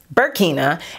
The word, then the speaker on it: Burkina: You guys told me in the last video that it's pronounced Burkina, and that the other foundation is pronounced Lagos, that I said it right.